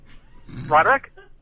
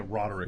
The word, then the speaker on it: Roderick: liver how are you well say my name rodick yeah rodick hey rodick what are you a gym teacher